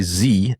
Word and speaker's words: zed: Americans say Z instead of zed for one main reason.